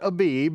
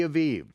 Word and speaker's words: Aviv: you out in the month of not abib when well you could pronounce it a if you want to be a gentile but it is the month of the aiv in Hebrew ha aiv the month of the Aviv now this is very